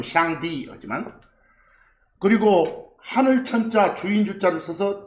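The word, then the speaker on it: 上帝: 상제 그들 발음은 샹디.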